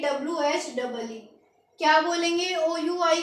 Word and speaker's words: oui: उसके बाद OUI, इसको साउंड देंगे WHEE।